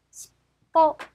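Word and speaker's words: しっぽ: 자, 읽어보시면 시뽀, 시뽀입니다. 자, 아, 뒤에 뽀가 맨 뒤에 왔기 때문에 쌍비읍 정도 발음해서 뽀, 그래서 비읍이 바로 츠 앞글자에 가서 받침이 되면 십, 그래서 십보가 되겠죠.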